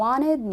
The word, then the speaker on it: wanted: طيب التي when the T comes after an N، لما التي بتيجي بعد حرف الان ايه اللي بيحصل؟ we drop it، بنشيلها we delete it كأنها مش موجودة خالص. اوكي، فاقول ايه بقى؟ هنطقها ازاي؟ هقول you wanted me wanted me wanted me، مفيش تي.